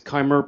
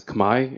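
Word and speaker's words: Khmer: the ker civilization was is kimer pronounced today as Kamai in the Cambodian language you can ask a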